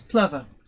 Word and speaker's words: Plover: Is it Plover or Plover? It's Plover, is what I've been told.